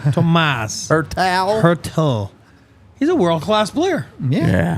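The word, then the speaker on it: Tomáš Hertl: Tomas Hertel.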